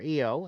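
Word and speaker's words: Iyo: make the tag to iowa sky or eo as they pronounce it theo has alexa's leg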